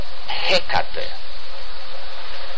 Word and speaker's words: Hecate: is the garden of Hecate. I don't know how you pronounce it in English, but yeah, well, the stress is on the beginning.